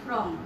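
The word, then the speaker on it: form: এখানে কিন্তু উচ্চারণেও কিন্তু ভিন্নতা আছে। এটা হচ্ছে ফর্ম, এটা হচ্ছে ফ্রম। বাংলায় যদি আমরা লিখি এটা হলো ফর্ম আর এটা হলো ফ্রম। এখানে কিন্তু রাত এবং দিন পার্থক্য হয়ে যায় যদি তোমরা উচ্চারণটা ভুল করো।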